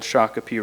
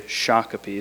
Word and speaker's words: Shakopee: or Sak pedon and Americans came to call them phonetically Shakopee so this uh the community the place became known as the city of Shakopee so a place name named after a person so you can see that an indigenous name has been changed the intention of it isn't really correct phonetically it's not quite correct but this is a